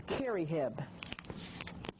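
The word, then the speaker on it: kherihe: the priest or the college professor was the kerry and it's spelled k h e r i h e and they had three types of college professors or three types of priests.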